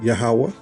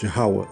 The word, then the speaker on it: Yahweh: So it says here, Jehovah, the Indians pronounce it Yahawah, and actually the real Hebrew, it's pronounced Yahweh as well.